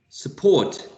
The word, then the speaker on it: support: okay initial position here I mean the first syllable support sir sir support support okay support so in the first syllable here you have a schwa and in in the second one you have a long all okay support as you